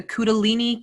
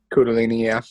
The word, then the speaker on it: kundalini: to talk about and i always mispronounce it what is it the kudelini kudolani method kundalini yes the kudolini method of